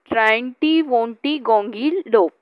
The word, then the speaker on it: triantiwontigongolope: Here you can make pieces of these words and then you can pronounce. You know triangle, so the first 4 letters are taken from triangle.